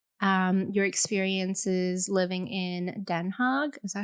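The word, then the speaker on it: Den Haag: telling me about um your experiences living in denha hog is that how you pronounce it you're right Den hog yeah so she studied abroad in um in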